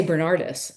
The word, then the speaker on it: Bernardus: Do I have that pronunciation correct? I just say Bernardus.